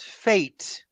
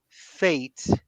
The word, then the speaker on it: fate: word that I wrote fate okay okay because I have the e in the end it's not pronounced every time a word ends with an e you don't pronounce it so the vowel before